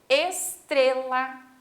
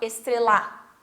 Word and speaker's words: estrela: Estrela, a gente fala o tre, né? A gente não fala estrelar, estrela. Então o tre fica mais forte.